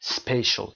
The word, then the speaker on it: spatial: spatial تلفظ این کلمه رو دقت داشته باشید.